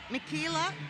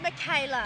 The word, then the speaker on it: Michaela: clearly just uh me mikila i'm not saying that right oh it's michaela oh michaela my brother